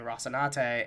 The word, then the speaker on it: Rocinante: te at the end, and so you say Rocinante, and you know that's how you're supposed to fucking say it.